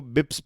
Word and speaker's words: bps: 40 basis points को बिप्स भी कहते हैं, BPS इसको बिप्स कहते हैं, प्रोनाउंस करते हैं।